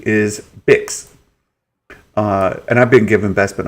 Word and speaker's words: Bix: Like pronounces it Bix, like kicks. So there's Bix, kicks. You have to hit 300 words or you don't get Google. But with a B, or like fix with an F, or like tricks with